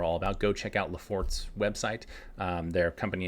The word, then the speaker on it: Laffort: of these are all about, go check out Lafort's website. Their company name is spelled Laffort.